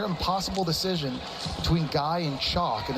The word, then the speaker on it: Chock: And Joan has to decide between Guy and is it Chuck or Chalk? Spell that for me. Chalk, C-H-O-C-K. That's the man's first name. Like Chock-a-noodle soup.